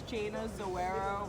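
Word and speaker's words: Jayna Zoeiro: My Instagram's Jana Zoero Real Estate, and it's spelled JAYNAZOEIRO Real Estate.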